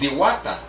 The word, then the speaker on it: Diwata: In the Philippines, it's pronounced Diwata.